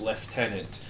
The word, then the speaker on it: lieutenant: GW actually put out a video making it officially cannon that is pronounced correctly as left tenant.